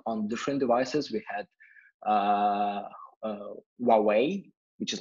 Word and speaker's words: Huawei: We had Huawei, which is like I found that this is the proper pronunciation of Huawei. This is Huawei.